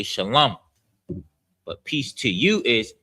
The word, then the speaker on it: Shalom: Shalom is pronounced, the sha is pronounced by itself. The lum is together. The la and the ma are connected. So it's lum. So it's sha, lum, and then ya.